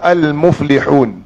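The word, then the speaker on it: المفلحون: Kita kata al-muflihun. Mim, muf, li dan huruf ha dengan wau. Baik, kita matikan nun. Bacanya mufli hu hu. Boleh baca dengan boleh baca dengan dua, boleh baca dengan empat dan boleh baca dengan enam.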